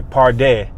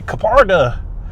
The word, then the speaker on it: Kpardeh: I say party and I heard the announcer say Kaparda.